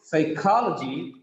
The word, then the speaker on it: psychology: Third from last is Ka. Psychology, psychology.